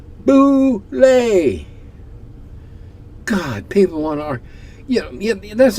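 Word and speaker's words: bulette: For 45 years, I've been pronouncing it like bullet. It's pronounced boulet. Yes, I know. When I published the damn thing in Dragon number 1 in July of 1976, it said right there in the write-up, boulet.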